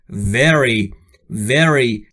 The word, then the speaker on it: very: وقتی که شما V رو میخواید تلفظ بکنید نیش دندون بالا باید لب پایین شما رو بگزه. به این صورت very very.